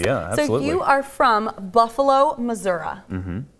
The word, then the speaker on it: Missouri: you are from Buffalo Missouri mm-hmm this is how you say it it's Missouri yeah at some point what